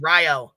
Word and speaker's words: Rio: is it Rio Rio people say Rio but it's Ryo Ryo yes Rio Rio Rio